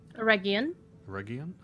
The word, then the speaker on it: Eregion: Eregion. Much like GIF, it is a hard G.